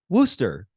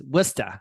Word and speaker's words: Worcester: name, because it's spelled Worcester, but pronounced Worcester. And if you're a Bostonian, it's Worcester.